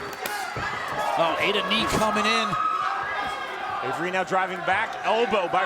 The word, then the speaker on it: Avera: from the bottom by avery no we're not doing bad pronunciations tonight i know it's spelled like a vera but it's pronounced avery i know it's spelled